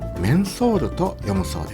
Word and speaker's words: 麺魂: Mmm Al final se me olvidó preguntar El estacionamiento está detrás de una parada de autobús un poco alejada Se escribe 麺魂 y se lee Men Soul Mensoul Samaro, luego supe